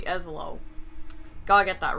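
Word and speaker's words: Ezlo: Every time I say his name, I say Elzo, but it's really Eslo.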